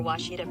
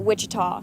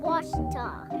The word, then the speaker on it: Washita: Searching for Washita Baptist University. Back in Texas, everybody pronounces it Wichita, but really, it's Washita. Washita. Washita.